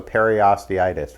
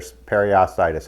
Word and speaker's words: periostitis: inflammation of the periosteum, so periosteitis, right, or periostitis, however you want to pronounce it.